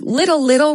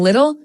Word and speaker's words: little: Or sometimes the British might pronounce it like, with a stop T like little, right? That'd be more of a Cockney accent saying little, yeah.